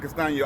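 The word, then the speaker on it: Castaño: My personal opinion is, excuse me, I think Bryan Castano, say it right, Bryan Castano, I think he did enough to actually get the W, man, last night.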